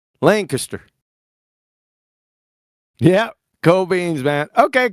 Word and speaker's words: Lancaster: Lancaster Archery Lancaster did I say it right Lancaster yeah Co beans man okay cool I knew